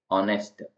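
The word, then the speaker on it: honest: है ऑनेस्ट ऑनेस्ट में एच है तो इसको नेस्ट नहीं बोलते इसको बोलेंगे ऑनेस्ट तो साइन जो है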